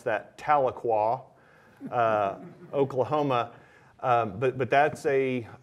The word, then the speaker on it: Tahlequah: for for our for our Texas bankers you pronounce that Tahlequah Oklahoma but but that's a it's a college